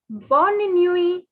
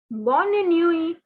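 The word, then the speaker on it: bonne nuit: saying good night say bonnie newey bonnie newey now take your glitter pen take a different color pen and cancel the t from while pronunciation because the t is not to be pronounced it's a diff it's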